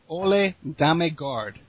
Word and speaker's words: Ole Demmegard: It's Ole Dame. Oh my goodness. Okay. Ole Dame Guard.